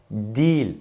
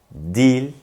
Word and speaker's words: değil: değil olarak yazılan kelime bu kelime değil olarak yazılır fakat dil olarak okunur yahut söylenir değil yanlış değil doğru Siz de tekrarlayın değil yanlış olan telaffuz dil doğru olan telaffuz Şimdi de bu kelimeyi